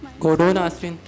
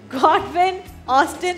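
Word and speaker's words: Godwin-Austen: गोडोन ऑस्टिन। Pronunciation थोड़ी। गॉडविन ऑस्टिन, तुमने जवाब सही दिया, प्रोनाउंसिएशन गलत थी।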